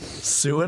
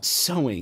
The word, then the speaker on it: sewing: Every time I read it, I'm like, sue. Oh, so. Sewing.